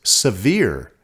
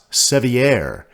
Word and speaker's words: Sevier: shore of Lake seir although the lake has a French name and spelling the locals pronounce it severe not seier as the French would